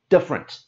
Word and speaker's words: different: is different yes even different and you can see in the word there's the extra e that we don't say this is a big word so we say it quickly different and there are many